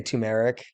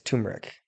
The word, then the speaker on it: turmeric: used to was it I used to say turmeric and I was like it's turmeric T so many words I